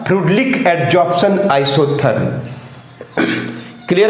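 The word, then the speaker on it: Freundlich: कैसे करता होगा, किस तरह से करता होगा, इसके लिए पढ़ना पड़ेगा, इसके लिए पढ़ना पड़ेगा आपको फ्रूडलिक, स्पेलिंग होता है FRENDAULIC, इसको बोलते हैं फ्रूडलिक, एन साइलेंट है, फ्रूडलिक बोलते हैं, फ्रेंडोलिक भी पढ़ सकते हैं लेकिन बोलते हैं फ्रूडलिक एडजॉर्प्शन आइसोथर्म।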